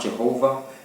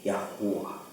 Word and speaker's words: Yahuwah: Not Jehovah, not Yahweh, Yahuwah.